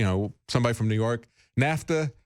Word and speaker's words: NAFTA: as my wife uh said, you know, somebody from New York, NAFTA rhymes with disaster, you know, that's the